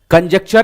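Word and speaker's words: conjecture: कंजक्चर एक important word है। ध्यान रखिएगा। कंजक्चर का मतलब होता है अनुमान लगाना। प्रोनाउंस आप इस प्रकार करिएगा। कंजेक्चर यह महिला डॉक्टर पहले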